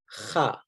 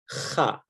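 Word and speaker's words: خ: So it's a different letter, and it's pronounced as kha, kha, okay?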